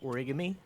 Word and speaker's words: origami: Pronounced origami.